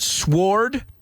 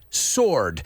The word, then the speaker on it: sword: careful with the pronunciation they're not sward sword say it with me sword he drew his sword right so Marlin right